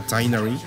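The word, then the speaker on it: Tighnari: Ya podemos hablar abiertamente de los tres personajes de Sumeru, Tainari, le quitaron la H y al menos en inglés así se pronuncia Tainari, Kolei y Dori.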